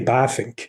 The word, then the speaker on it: Bavinck: but then you know in dutch the letter v is pronounced as an f in english so it's really baffink oh wow um so